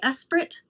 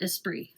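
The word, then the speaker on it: Esprit: spree sport shorts and I've heard resellers say Espirit. This was a brand that was popular in my day in high school in the 80s and 90s and it we pronounced it espree.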